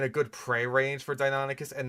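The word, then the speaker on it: Deinonychus: However, the Donoskus was Donoskus. Bro, you have two pronunciations that I will accept, right?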